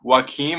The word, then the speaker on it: Joaquin: It does not even look like that when you look at the spelling of it. Yeah. The spelling is Joaquin. So it's Joaquin, and then how do you say your last name?